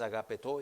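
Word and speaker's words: ἀγαπητοί: de estarlo pronunciando bien la palabra griega aquí es agapito y está bien pronunciado y es más o menos ágape ágape toi está diciendo amados es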